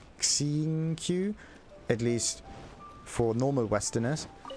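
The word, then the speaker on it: Xingqiu: or something yeah it's it's written as an x but it's not pronounced as an x in this case it's not x singu it's more like seeing q at least for normal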